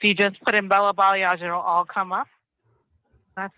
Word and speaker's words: Balayage: So Instagram, it's Bella Balayage. It's together. That's it. Bella Balayage. Can you spell that for people? BELLA BALAYAGE. Balayage. Oh, see, also, I thought it was balayage.